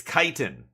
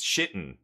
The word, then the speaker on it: Kiten: fine kiten grav stalker it's kiten by the way for those who don't know how to pronounce it I've heard a few content creators already call it all kinds of things shitten um there's some blue